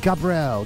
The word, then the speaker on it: Gabrielle: It's called Gabrielle, and you have to say it like that, fancy, Gabrielle, Gabrielle, but it's G Lizzie by Gabrielle.